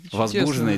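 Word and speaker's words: возбуждённые: Ударение возбужденные дела.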